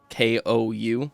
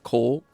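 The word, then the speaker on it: 紅: the word like for Scarlet, Cole, K-O-U, Cole. People would say pronounce it like it's a long O, but when you're actually speaking Japanese, you're saying Kou, O.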